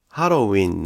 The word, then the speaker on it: ハロウィン: このように見ると、ハロウィーンのウィーンは 3 拍 1 音節だという